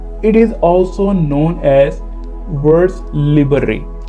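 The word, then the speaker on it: vers libre: इट is also known as words लिबरे। अगर ये word को हम फ्रेंच में प्रोनाउंस करें तो वर्ड लिबरे, क्योंकि मैंने फ्रेंच पढ़ी हुई है तो इसलिए मैं इसको प्रोनाउंस कर सकता हूँ।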